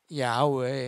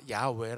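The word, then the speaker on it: 야훼: 최대한 근접한 발음 일까 이것을 연구 했을 때 가장 그래 옛날에 이렇게 발음 했겠다 라고 추측하는 것이 뭐냐면 야외 해요 그래서 공동번역 에서는 여호와 라고 나오는 말을 모든 말을 다 야외 라고 바꿨습니다 이게 가장 20명 4 문자의 불랙 발음에 가까운 발음 이기 때문이에요 자 그런데 이제 문제는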